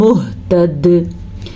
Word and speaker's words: مُهْتَدٍ: فَمِنْهُمْ مُهْتَدٍ وَكَثِيرٌ مِّنْهُمْ فَاسِقُونَ.